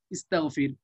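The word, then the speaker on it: اسْتَغْفِرْ: এই কারণে একটা আলিফ নিয়ে আসতে হয়, যেখানে এরকম সমস্যা দেখা দেয় প্রথম অক্ষর সাকিন উচ্চারণ করা সম্ভব না, সেখানে আলিফ নিয়ে আসতে হয়। তাহলে আলিফ নিয়ে আসলে হয়ে গেল কি ইস্তাগফির, তাহলে এই আমরের সিগা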